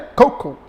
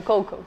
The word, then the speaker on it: Coco: Bom, então a pronúncia correta é Coco, mais ou menos assim. Isso mesmo, Coco.